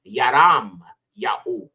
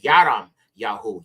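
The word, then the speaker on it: ירמיהו: okay so moving on this is Jeremiah or in the abari it would be yaram yah okay yaram yaho Yad rash mom y he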